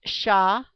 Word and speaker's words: Shavuot: The Hebrew name is Shavuot, pronounced Sha-Vu-Ote.